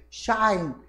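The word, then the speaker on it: χ: que chamava-se valor desconhecido, chama-se chi, tá? É a pronúncia. A pronúncia em grego chama-se chi.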